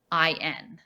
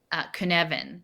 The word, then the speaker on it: Cynefin: It's spelled unusual. He's Welsh, so it's like Cynefin. Cynefin is how you pronounce it, I believe.